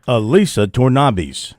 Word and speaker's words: Elisa Tornabis: fine prospect in France, Elisa Tornabis. And so recorded once again. Elisa Tornabis. Yeah, we recorded that so I would get it right every time I say her name.